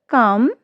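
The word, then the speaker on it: calm: जब एल के बाद ए ओ यू के साथ एफ डी के एम आई तो एल जो हमारा है, एल लेटर जो हमारा वो साइलेंट हो जाता है।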